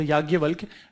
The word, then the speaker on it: yajna: the spelling of the yagya we in in in Hindi we pronounce it yagya done but how we write yaja so yajna see yajna and vidushi